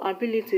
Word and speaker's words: ability: For example, ability is stressed in BI, registration is stressed in GIS, and revivalist is stressed in VI.